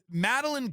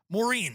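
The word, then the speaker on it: Maurene: Um so Maline Comey is the person who's like handling all of this stuff. Moren, sorry not Meline.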